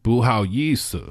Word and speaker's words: 不好意思: We know there are 4 tones and 1 light tone in the Chinese language. This one is the light tone. So 意思,不好意思. 不好意思.